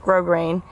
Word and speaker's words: grosgrain: grain i don't know it's spelled gross grain but i think it's pronounced grosgrain what you need to do